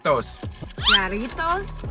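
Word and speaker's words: Jarritos: how you say jaros jaros roll your R jaros jaros that's how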